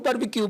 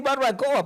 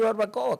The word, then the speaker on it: barbacoa: Si ellos los pobres tienen que conformarse con decir barbecue. Entonces nosotros como nosotros vamos detrás de ellos imitando, le decimos barbecue, pero di barbacoa para que ellos aprendan a decir barbacoa.